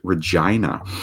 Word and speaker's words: Regina: Fun fact, in Canada there is a majorish city with the same name, but it is pronounced Regina.